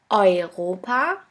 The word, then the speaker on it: Europa: The next letter combination is EU or EU, which is pronounced like oi, oi. Here we have the example of the word Europa, which means Europe.